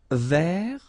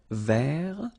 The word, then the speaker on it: vert: Vert. So masculine form, don't pronounce the final T. Vert.